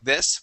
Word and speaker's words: this: saying the the okay we want to use a short I that short I sounds like this we say I I the word is this this try that please